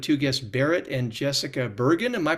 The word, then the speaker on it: Burgin: And I'm privileged to have today a conversation with two guests, Barrett and Jessica Bergen. Am I pronouncing that correctly?